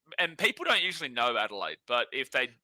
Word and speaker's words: Adelaide: lot as well adal Adelide that's like Kool-Aid yeah Adelide is crazy I'm always Adelaide uh but yeah Adelaide